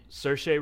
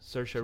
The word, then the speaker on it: Saoirse: you say her name Ronan Sasha's ser che Saoirse Ronan or Saoirse Saoirse Ronan I thought she was really good Cersei